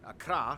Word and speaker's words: Accra: And of course the capital, Accra, yes, that's how you pronounce it, Accra, located in the southeast along the coast.